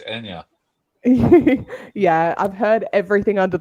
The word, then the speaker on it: Anja: so we're saying your name wrong. It's Anya.